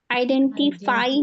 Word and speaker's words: आइडेंटिफाई: देखिए माय माय सबसे पहले माय फाई आइडेंटिफाई नहीं पढ़ते। आइडेंटिफाई आइडेंटिफाई क्योंकि फाई जब पढ़ेंगे तो क्या हो जाएगा? ये बड़ी ई की मात्रा लग जाएगी। मतलब बड़ी ई वाली फाई हो जाएगा वो। लेकिन फाई क्योंकि आई वाला साउंड आना है।